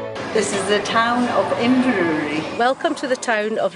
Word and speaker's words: Inverurie: Hi, welcome to Inverurie.